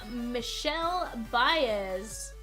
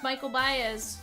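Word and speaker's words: Michel Báez: Fun fact is that's actually how it's pronounced. We thought it was Michael Baez, but no, it is Michelle Baez. Diamond pointed that out one time, and we're like, no way. No, sure enough, that was the correct pronunciation.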